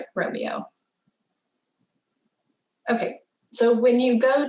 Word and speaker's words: Romeo: Also, I used to pronounce it Sherpa Romeo, but I recently learned that Sherpa also has a website called Sherpa Juliet. So it only makes sense that this is Sherpa Romeo.